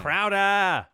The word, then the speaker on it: Crowder: Greg Olen Big Time Crowder it's it's pronounced crow look there are a